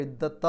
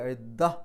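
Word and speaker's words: العدة: ഇനി അവിടെ പാരായണം നിർത്തുകയാണെങ്കിൽ ഇദ്ദഹ് എന്ന് പറഞ്ഞിട്ട് ഇദ്ദത്ത് എന്നല്ല ഇദ്ദഹ് സുക്കൂനുള്ള ഹാഇൽ അവസാനിക്കുന്ന രൂപത്തിൽ ഇദ്ദഹ എന്ന് പറഞ്ഞിട്ടാണ് നിർത്തേണ്ടത് അവിടെ നിർത്താതെ പാരായണം ചെയ്യുകയാണെങ്കിൽ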